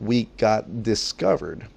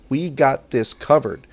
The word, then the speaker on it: We Got This Covered: I know I mispronounced on the other videos, We Got Discovered. I understand. It's We Got This Covered.